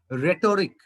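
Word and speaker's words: rhetoric: তারপরে সুনামি, তারপরে হচ্ছে তোমার আরো ইম্পর্টেন্ট বানান গুলার মধ্যে আছে, যেমন ধরো রেটরিক বানানে একটা RH আছে কিন্তু এখানে এইচ এর কোনো উচ্চারণ নাই।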